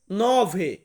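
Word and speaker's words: nove: আট নয় নয় কে আমরা ইতালিয়ান ভাষাতে বলবো নভে নভে মানে হচ্ছে নয় 10 কে আমরা ইতালিয়ান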